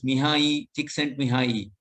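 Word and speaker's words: Mihaly Csikszentmihalyi: His name, of course, is a little difficult to pronounce, but it's actually pronounced as Mihai Csikszentmihalyi.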